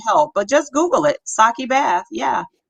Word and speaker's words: sake: Yeah, it's 50% actual sake. Yeah, and if you ever had sake, is you that how know you what it is. pronounce it again? Sake. So the E is an A, Sake.